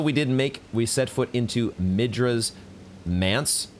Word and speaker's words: Manse: And also we set foot into Midra's Manse. Apparently, ChatGPT tells me it rhymes with dance.